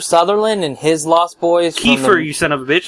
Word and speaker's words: Kiefer: Although, if Kiefer Sutherland and his Lost Boys... Kiefer, you son of a bitch. It's not T-H, it's an F.